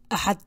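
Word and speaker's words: Axad: Sunday, Ahad, Ahad. And if you have hard time pronouncing the X, you can always say Ahad and substitute H for X.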